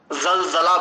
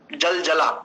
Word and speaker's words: जलजला: तो वहां पर वह जल जलाब बोलते हैं जैसे एक शब्द जलजला हमारी भाषा में संस्कृत की दृष्टि से इसका उच्चारण होगा जलजला लेकिन वो जल जल ऐसा बोलते हैं जो भी आपको